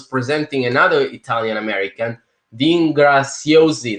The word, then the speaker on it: Graziosi: And then I saw once he was presenting another Italian American, Dean Graziosi. They say Graziosi, but in Italian it's Graziosi. It's Z. Zorro.